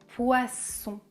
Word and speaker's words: poisson: les deux on commence poisson poiss son le son est sourd comme un serpent poisson poisson et le